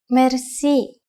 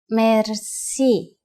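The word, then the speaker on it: мерси: you will be amazed which word that is merci merci merci is a lone word from french but it is pronounced with the typical bulgarian heart are it is used mainly in informal situations merci how do you answer it's easy there are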